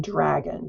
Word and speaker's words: dragon: And then the DR in dragon, dragon. There's a little bit of a chirping sound at the beginning.